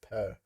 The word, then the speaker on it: pr: what that is uh literal sign with consonant values p r is pronounced per per okay this is